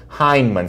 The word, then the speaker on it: Hyneman: last name for BA it's Hyneman sounds like hi here's the thing I